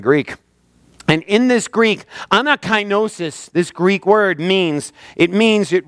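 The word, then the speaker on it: ἀνακαίνωσις: This word in the Greek is pronounced anakinosis.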